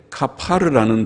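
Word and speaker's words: כפר: 히브리 말은 덮는다, 뚜껑이란 말이 카버링, 덮는다는 영어로는 카버링, 덮는 것이 뚜껑인데 히브리 말에는 덮는다는 단어가 발음이 비슷해요. 영어하고 비슷하게 카파르라는 단어인데 카파르라는 단어가 속죄한다는 뜻도 있어요.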